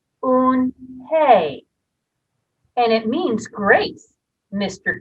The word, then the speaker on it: Unhei: turned to joey she nodded slowly yes it's pronounced un hey and it means grace mr kim added on